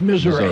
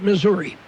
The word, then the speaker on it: Missouri: Well, if you're from Missouri, it's Missouri. Everybody else calls it Missouri.